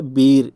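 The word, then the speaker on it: beer: हम लोग बियर बोलते हैं, इसका जो शुद्ध प्रोनाउंसिएशन है वो है बीर, इसको बीर बोलते हैं, है ना।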